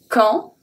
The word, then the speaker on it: quand: Quand, quand. So here, the only thing that we pronounce is Q. And then we're going to pronounce A-N as en.